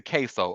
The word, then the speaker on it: KSO: It's it's spelled K S O and it's pronounced queso like the Spanish cheese.